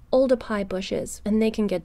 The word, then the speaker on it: Oldupai: started working there so really oldify gorge should be called ulda pi gorge with a p we record very precisely